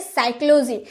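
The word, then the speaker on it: psychology: गैस क्यों नहीं बोलते क्योंकि एस के पहले पी आया है इसीलिए हम इसका उच्चारण नहीं करते हैं तो ऐसे एक वर्ड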